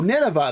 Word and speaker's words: Nineveh: I'd say its threat level might be on par with Nineveh, Oh, Nineveh.